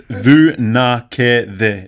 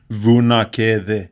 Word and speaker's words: Vunakece: The C. C in Fijian is actually pronounced as a TH sound. So Vunakece.